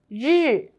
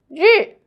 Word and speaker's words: 日: In this video, I will teach you how to pronounce it, how to write it, and how to use it. Let's read it together. 日.